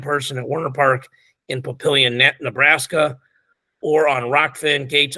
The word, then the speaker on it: Papillion: They're doing an outdoor dual meet tournament on a baseball field in Papillion. Yep. That's how you pronounce that town.